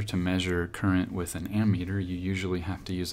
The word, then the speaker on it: ammeter: I've heard it both ways, but I think the correct way to say it is ammeter, A-M-M-E-T-E-R.